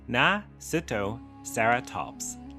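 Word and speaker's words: Nasutoceratops: Nasudoseratops pronounced Nasuttoeratops lived around 75 million years ago during the Le Cretaceous period in what is now North America.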